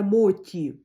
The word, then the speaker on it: моті: кажіть правильно виправляйте мене пишеться мочі не дуже приятна да читається Ну у нас всі називають це Моті традиційний японський десерт тістечка Моті хоча пишеться мочі так в общем купила